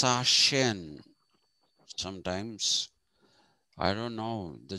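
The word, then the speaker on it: Sachsen: something like that um it is pronounced sashin sometimes i don't know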